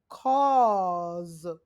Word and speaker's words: cause: ball jaw HW cause has the z sound at the end Clause okay students now